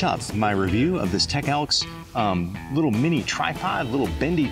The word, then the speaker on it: TECELKS: how this is working the company's name i believe they pronounce it tech elks and i'll put a